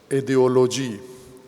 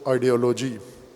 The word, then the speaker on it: آئیڈیالوجی: فارسی کتابت کے مطابق ایڈیولوجی فارسی تلفظ ہے، اس کا اردو تلفظ یعنی انگلش کے لفظ کو جب اردو میں تلفظ کیا جاتا ہے تو آئیڈیالوجی۔ اب میں فارسی تلفظ